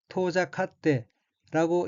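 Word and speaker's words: 遠ざかって: 다음 어휘는 한자가 멀 원자이고 일본어로는 토자카테라고 읽으며 토자카테는 멀어지다, 사라지다, 소원해지다는 뜻의 자동사 및 인류동사인 토자카루의 태형으로 토자카테는 멀어져 라는 뜻입니다.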